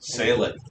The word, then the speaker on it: Salic: It may be big. I mean, it's 2 whole syllables. Salic.